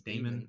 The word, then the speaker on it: Daemon: It's Damon. I don't know. Daemon. I don't know. It's not Draymond Green.